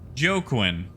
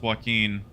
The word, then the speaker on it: Joaquin: you should have heard my pronunciation of Joaquin when I first saw that name was like oh Joe Quinn yeah that's that guy's name Joe Quinn Phoenix no turns out it's Joaquin we're just gonna overshoot